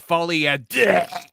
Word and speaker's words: Folie à Deux: Although apparently one of Quentin Tarantino's favorite movies this year, that Joker, Folie à Deux. Well, Quentin is going to love this. Hold on, Jonas. It's pronounced Folie à Deux.